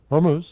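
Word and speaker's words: Hormuz: Horu Hormuse Hormuse Hormuse that's it.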